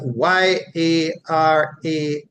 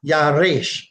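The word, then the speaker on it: ירש: Hebrew to English as Y-A-R-A-S-H, and it is pronounced Yarash, Yarash, Yarash, with an emphasis on the R. So it's either Yarash or Yaresh, Yarash or Yaresh.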